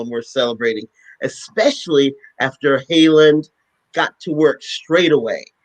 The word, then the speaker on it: Haaland: This month, Deb Holland, and I may be pronouncing that wrong. It's Haaland, was confirmed as the first Native American Interior Secretary.